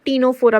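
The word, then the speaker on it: Ctenophora: इन निडरिया similarly टीनोफोरा third C silent है तो टीनोफोरा pronounce करना है इन्हु देन प्लेटहेलमिंस ओके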